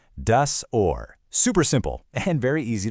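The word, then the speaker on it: Ohr: It's pronounced just like the English word or. Does or.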